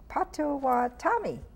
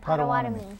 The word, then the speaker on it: Potawatomi: And we have Julia Bustamante, Potawatomi. No, Potawatomi. I keep saying it wrong.